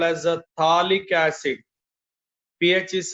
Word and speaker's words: phthalic acid: Whenever 2 COH 1, 2, the IUPAC accepted name is called as a phthalic acid. pH is silent. Then the name is a phthalic acid.